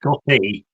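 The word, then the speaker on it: goði: I believe it's pronounced gothy but um I'm not sure.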